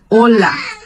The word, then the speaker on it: hola: é o oi, olá, com atenção para o ênfase, né? Em português, nós damos ênfase quando vamos dizer olá, o nosso ênfase é na sílaba lá. E em espanhol, a ênfase é no o do olá. Olá. Hola. E em português, olá. Em espanhol, hola.